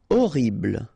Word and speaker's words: horrible: Horrible, okay, remember we don't pronounce H here, horrible.